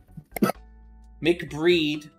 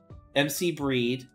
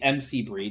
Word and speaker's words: MC Breed: that makes sense that you know mcbreed MC Breed I just let me say it properly MC Breed not mcbreed what the [ __